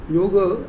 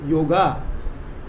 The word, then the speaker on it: yoga: Please remember that many people pronounce the word yoga as yoga, but that is not a correct pronunciation.